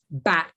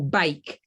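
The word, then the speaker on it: Bakke: And the last one was the University of California versus, I think it's pronounced back or bake.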